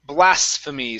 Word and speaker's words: blasphemy: This word here, blasphemy. So we're working on an S into an F sound.